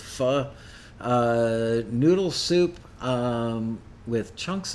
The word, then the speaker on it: pho: um fod you know like vietnamese faux or pronounce it correctly it's fu noodle soup um with